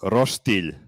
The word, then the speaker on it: roštilj: So Serbian barbecue is called roštilj. Please repeat after me. Roštilj. First of all, you said phonetically, and then you put a G in there. That is not how you would pronounce this.